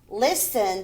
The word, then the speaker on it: listen: the g h is is f sound laugh listen the t is silent listen were beautiful and fancy okay we